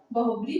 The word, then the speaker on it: बहुव्रीहि: ठीक है, तो आप लोगों को क्या करना है, इसको ध्यान रखना किस तरह इसका उच्चारण किया जाता है, बहुब्री समास।